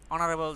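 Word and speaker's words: honourable: এফ নাম্বারে হবে এন অনারেবল জব। তোমরা খেয়াল করো, অনারেবল এইচ উচ্চারণ হয়েছে কি হয়েছে না এগুলো খেয়াল করতে হবে।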